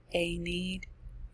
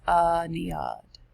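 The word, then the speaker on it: Aeneid: from virgil's anion anyad so sounds like a need probably heard of that historical um poem but it's pronounced a neod a-e-n-e-i-d okay another henry flitchcraft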